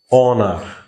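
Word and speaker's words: honor: দেখছো ডিজি থেকে D silent হয়ে যায়। অনার, অনার মানে আমি বলে দিছি আগেই, তোমার আগে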